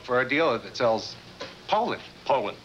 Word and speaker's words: Poulan: a dealer that sells Poulan. Poulan. That's what I said, Poulan. You You said Poland? Ask them. Poland. No matter how you say it, the name means quality.